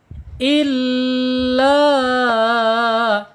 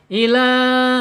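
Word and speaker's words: إلا: Wa ininum depannya huruf alif illa ya illa penekanan di huruf lam ya yang bertasjid enggak boleh ila. Awas hati-hati kalau ila berarti lamnya diabaikan tasjidnya enggak ada tasyiennya tuh. Harus illa gitu.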